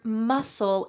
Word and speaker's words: muscle: Notice that the C in the word muscle is silent. Do not say muscle. Instead, it's just muscle.